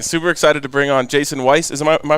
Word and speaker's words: Jason Weiss: Super excited to bring on Jason Weiss. Am I pronouncing that right?